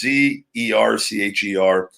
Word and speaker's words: Zercher: I always forget the pronunciation, but it's Zercher.